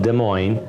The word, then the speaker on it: Des Moines: beautiful sound to it a lot of people mispronounce it got des moines des moines it's called des moines actually in French - muah and so we're